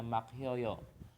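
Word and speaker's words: 막혀요: Oke, terus hiat sama giok akan bergabung menjadi hyek, jadi dibacanya makhyoyo. Makhyoyo.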